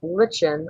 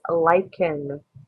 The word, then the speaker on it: lichen: We don't pronounce it lichen or lichen. It's lichen. So it has the hard k sound, like in the ch in Christmas.